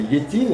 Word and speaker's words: Létine: Et puis à un moment, Lénine remarque un nom, Létine. Et il trouve que Létine, ça sonne un peu russe. Et si on prononce à la russe, ça fait Liétine, et en russe, Liet,